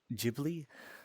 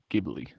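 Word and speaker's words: Ghibli: Oh, it's very very jibly. Gibbly.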